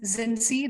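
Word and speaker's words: Xinci: thank you very much um my name is zinzi that's spelled as an x-ray as in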